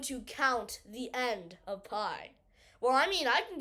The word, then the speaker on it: pi: Circumference C equals, well, introducing our best friend pi. This little symbol, read it as the delicious dessert you eat on Thanksgiving, pi.